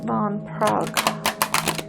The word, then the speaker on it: Van Praagh: Let's get, this is The Power of Love by James Van Praagh. I think it is. I don't think you pronounce the GH.